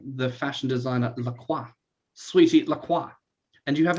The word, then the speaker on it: LaCroix: My understanding with the drink is because the company apparently named themselves as LaCroix, written that way, spoken and pronounced that way, to be distinctively non-French.